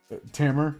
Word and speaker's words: Tamer: a m e r because that's my name Tammer is my name but it's spelled the same so anytime I think